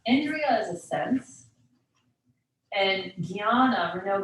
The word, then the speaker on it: Jnana: And Jnana, we know Jnana Yoga or Agya Chakra. That J and that weird little pinata N that makes the Gya sound.